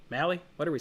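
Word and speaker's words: Mahle: this guy's name wrong molly mally what are we saying i know i do too it is mali it is an alley but i get it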